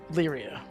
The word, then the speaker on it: Lyria: I think I would try to get word to, is it Lyria or Lavria? I was pronouncing it Lyria. So, Lyria. yeah.